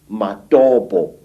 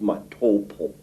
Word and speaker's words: Matobo: place called the mountains of the round rocks madobo wrongly pronounced matopo in in zimbabwe these hills are really not